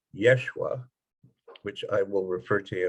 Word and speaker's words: Yeshua: surface of the earth his name was actually pronounced much more like yeshua which i will refer